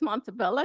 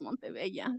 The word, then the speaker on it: Montebello: I heard it's Montebello because we're in the Tuscany area. Oh, okay. But if you go with your Latino counterparts, we'd say it's Montebello.